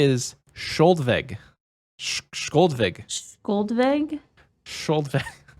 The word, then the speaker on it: Skjoldvegg: The name we're about to say is Skoldveg. Skoldveg. Skoldveg? Skoldveg. It's spelled, Skoldveg?